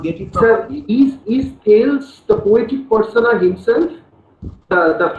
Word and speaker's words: Thales: Now, first of all, let me tell you that the pronunciation of the, you know, T-H-A-L-E-S is Thales, not Thales.